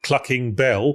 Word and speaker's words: Clucking Bell: the chicken restaurant called Clucking Bell, to rhyme with fucking hell, you see.